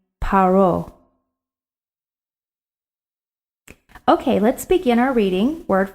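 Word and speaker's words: פרעה: pronounce it pharaoh but in the hebrew text in the tanakh we pronounce his name paro okay let's begin our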